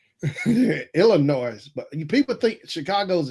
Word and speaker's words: Illinois: The S is silent. Illinois. Illinois.